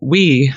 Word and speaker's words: Ooui: and so I yeah and so I wrote we the library to make that happen in dotnet and why oh oh UI object-oriented you uh brilliant okay so it's a pun it's in another language